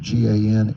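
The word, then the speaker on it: Gansevoort: You can pronounce it Gansevort, New York.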